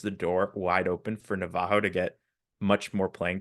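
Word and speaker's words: Navarro: was originally expecting but is it Navajo not Navaro right hael Navajo the Double R is weird in Portuguese and then the ra is actually ha so funnily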